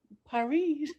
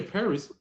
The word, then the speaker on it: Paris: word for me T Paris Paris I don't know Paris she remember the S at the end of the word is what oh Sil she remember you don't say Paris you said par M so that's the